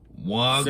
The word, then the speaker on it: vodka: That's how the Europeans say V. I think it's vice versa. It's the W. V say it like a W.